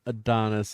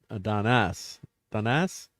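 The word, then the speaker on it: Adonais: I mean, it's not Adonis, it's Adonas, which was a requiem for Keats by one of his contemporaries.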